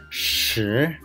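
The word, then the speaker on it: 十: Then shi, shi, there is rising tone, second tone. So we need to pronounce like shi, shi, shi.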